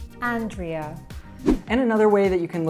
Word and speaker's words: Andrea: anything like that, and actually it should be pronounced Ethan, Ethan. And our other fluency coach is often called Andra or Andrea, and let's see how she would actually say it. My name is pronounced as Andrea. Andrea.